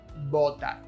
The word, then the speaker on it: botar: Again, it's a very Latin American thing to pronounce both words identically, but the right pronunciation should stress the type of B you're using. Votar and botar.